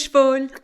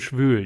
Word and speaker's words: schwül: Und in Jamaica, heiß und schwul. Cool. Yeah, ziemlich cool. Oh, cool. Cool. Cool und schwül. Yeah, you want to be pronouncing that correctly. There's an umlaut in schwül, which means humid.